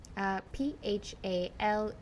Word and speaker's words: Phalguna: You can spell it for everybody. Phalguna.